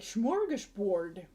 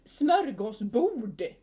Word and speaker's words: smörgåsbord: blah blah blah, and they just take words from Swedish and they just mispronounce it so badly. Like smorgasbord. We're gonna have a smorgasbord. What do you mean? It's smörgåsbord.